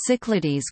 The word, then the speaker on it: CYCLADES: The CYCLADES computer network, French pronunciation, CYCLADE, was a French research network created in the early 1970s.